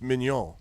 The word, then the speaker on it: Mignon: So his name is Mignon, but it's French, so it's Mignon.